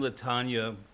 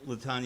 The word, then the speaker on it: Latonia: Uh, oh, by the way, the first time Latana and I spoke, she said to me, "I want you to know how to pronounce my name. It's like lasagna."